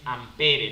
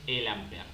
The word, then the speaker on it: ampere: i la i es ampere no pero se pronuncia amper o sea sin esa última e esta e no lo lean no lo lean pero